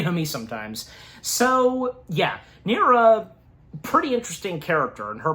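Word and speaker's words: Neera: Yeah, Nerra. That's that is how her name is pronounced.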